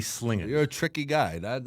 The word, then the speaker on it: Slangin': of a taco about it's spelled slanging but you say slinging you're a tricky guy